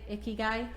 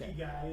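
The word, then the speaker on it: ikigai: Icky guy. Guy is a Japanese concept that means your reason for being. In Japan means life and guy describes your value or worth. So your icky guy is your life purpose or your bliss.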